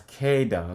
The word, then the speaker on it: Kada: you guys pronounce my name wrong. It's said as Kada.